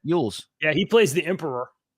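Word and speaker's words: Elwes: Yules.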